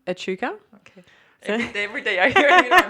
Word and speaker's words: Echuca: Echuca.